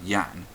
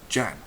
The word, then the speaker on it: Jan: it as y uh just like uh English people pronounce the Dutch name Yan um which is j a an as um Jan even though the J character is pronounced completely different in Dutch alternatively you could borrow